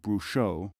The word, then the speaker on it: brujo: Such people would be most accurately described in Arabic and in medieval Spain as brujo, masculine, or bruja, feminine, pronounced at the time brucho, brucha.